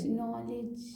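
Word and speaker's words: knowledge: है जैसे हाउ नाउ लेकिन यहां पर के लगा हुआ के एन ओ ड के य पर क्या है साइलेंट क्या है साइलेंट है इसलिए क्या पढ़ेंगे ओ को ल पढ़ना है एन में ओ लगाइए एन में ल पढ़िए मन में नहीं पढ़ना है बोल के पढ़िए नॉलेज हां नॉलेज मन में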